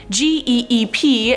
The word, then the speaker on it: geep: move on to number five jeep or geep no i'm not talking about the car jeep this is about g-e-e-p and i was probably right the second time saying it's a geep this hybrid is a